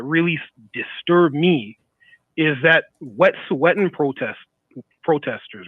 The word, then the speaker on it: Wet'suwet'en: that happened that really disturbed me is that Wet'suwet'en protesters, right? Mm-hmm. You see, Wet'suwet'en. Pardon me? No, it's Wet'suwet'en. It is. He's got it right. Yeah, Wet'suwet'en.